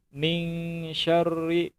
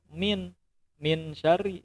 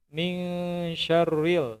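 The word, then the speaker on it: مِن شَرِّ: Min syarril. Nah, ada di antara adik-adik itu yang bacanya itu min syari, seharusnya itu dengung. Min syarril ya, min syarril kayak gitu ya.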